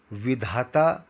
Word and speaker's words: विधाता: तो यहाँ पर होठ खुले रख के विधाता उच्चारण करना है।